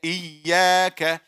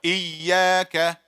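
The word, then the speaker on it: إِيَّاكَ: Iyaka. Brothers. Everybody. Iyaka. Sisters. Iyaka. Again. Iyaka. If you have a trained ear, you will be able to pick, even if one person is saying it wrong.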